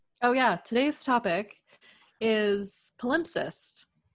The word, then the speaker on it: palimpsest: today's topic is palimpsest palimpsest there's two pronunciations Roley al IM p s EST al insist al MPs est mm-hmm so there's an imp in the middle yes and the cest at the end yes once this poem